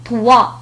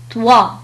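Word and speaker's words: toi: حينما يأتي بعد حرف أو حرف إي تنطق وا. مثال على ذلك طوا. طوا.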